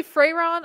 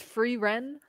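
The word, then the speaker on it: Frieren: it right probably not we all Sayang it wrong we say fron I think it's free Ren free Ren it's the white haired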